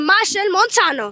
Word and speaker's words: Machel Montano: of SOA himself Mr Mar Montano Mr Montano how you doing today I'm so fine after you just pronounce my name perfectly because they always mispronounce it Marshall Montana you said